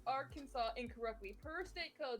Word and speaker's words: Arkansas: incorrectly per state code the only acceptable pronunciation is in three syllables with the final s silent and the a's in each syllable but the italian sound and the accent on the first and last syllables keep your arms oh